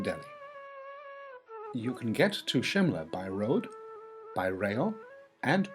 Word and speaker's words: Shimla: incarnation of The Fearless Kali and also why Shimla is the correct pronunciation when the British took over in 1817